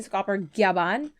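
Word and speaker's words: Scopper Gaban: Like, it's always been Scopper Gyaban, but they spelled it as Gaban before.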